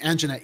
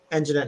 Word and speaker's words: Anjanette: uh city to offer 2.9 million settlement to anita young over the bots police raid on a jet on a yet not young i think it's pronounced uh uh yeah yeah sorry sorry apologies uh young and jeanette young and jeanette young so uh mayor lori